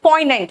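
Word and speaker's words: poignant: आ जाओ next word पोइनेंट बेटा यहां जी साइलेंट है पोइनेंट का मतलब होता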